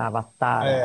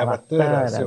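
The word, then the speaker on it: Avatāra: Só que o A com o chapéu, com a minhoca em cima, o tio, não tem uma pronúncia, então você pode dizer Avatara, Avatara, uma coisa assim.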